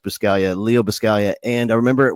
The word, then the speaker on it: Buscaglia: a G like it's I think if I was going to say phonetically it might be bus Kaguya but I think it's pronounced per Scalia Leo Buscaglia and I